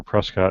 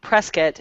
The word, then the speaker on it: Prescott: You realize anybody from Prescat, Arizona is going to be very annoyed right now with the way that you guys are pronouncing it. Well, I I Yeah, I grew up in Arizona. It's Prescott. Yeah, that's how they say it.